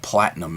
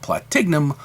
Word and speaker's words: Platignum: Yeah, platinum is really how it's pronounced, I understand, but it's more fun to call it Platignum because I stick a G in there, and I'm very familiar with